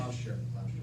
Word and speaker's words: Gloucester: Wait a minute. Gloucestershire. 2 syllables.